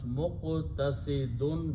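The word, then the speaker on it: مقتصدون: So in other babs also, you put a meme in the beginning, and this time you do not pronounce this alif, so it becomes muqtasidun.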